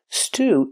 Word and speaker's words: stew: Stew is a kind of soup. It usually has beef, potatoes, and other vegetables. Pronunciation, stew, using the long oo sound.